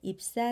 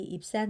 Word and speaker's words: 입산: 2천 명이나 죽임을 당합니다 아홉번째 사사는 입사 아니구요 이 입산 으로 인해서 이스라엘은 7년